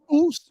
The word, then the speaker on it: ours: It's spelled like Oursblanc. It's pronounced Ours Blanc.